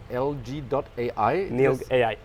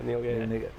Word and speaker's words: NILG.AI: And your company is pronounced NILG.AI? NILG.AI. Okay, good. Yeah, NILG.AI.